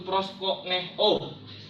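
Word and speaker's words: προσκυνέω: Bahasa Yunani menyembah itu adalah proskuneo, atau dalam pelafalannya disebut proskoneo, yang artinya berciuman, seperti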